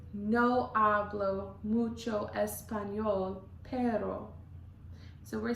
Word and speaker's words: pero: It looks like it should be pronounced pero. You could pronounce it pero, or you'll take the tip of your tongue, it would go behind your teeth in the bottom, and it'll end up